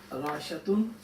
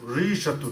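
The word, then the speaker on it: ريشة: Rashatun. No, Rishatun. Rishatun. Yeah, so the ya, it's got a sukoon. So you want to put sukoon in there, you can.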